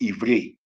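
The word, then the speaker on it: עברי: When you say Hebrew, we know that the word Hebrew is pronounced Ivri, and it means past, as an ancient.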